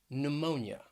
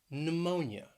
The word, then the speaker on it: pneumonia: couple of words that begin with a silent p and both of these words have three syllables so the first one is pneumonia pneumonia that stress is on that second syllable pneumonia then we have pseudonym